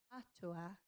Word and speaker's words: atua: So the first one is atua, and that's God. So do you guys want to have a go? Atua.